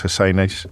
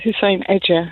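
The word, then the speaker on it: Hussein-Ece: or Baroness Husseini to give. Did I pronounce the second bit of your name correctly? No, it's Hussein Edger.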